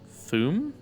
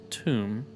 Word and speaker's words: tomb: Thum? Pronounced tomb.